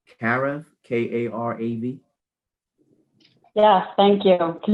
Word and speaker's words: Karav: Okay, last but not least, forgive me if I pronounce this wrong. Karav, K-A-R-A-V.